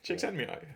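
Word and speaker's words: Csíkszentmihályi: but yeah that's quite it's quite easy once you get the trick but chick said chick sent me that's it but uh i thought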